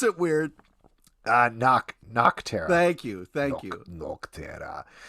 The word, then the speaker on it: Nocterra: Don't pronounce it weird. Nocterra.